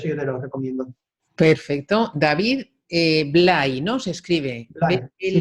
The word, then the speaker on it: David Blay: David Blay, ¿no? Se escribe Blay, sí, David Blay. B-L-A-Y, ¿no? Exactamente. David Blay.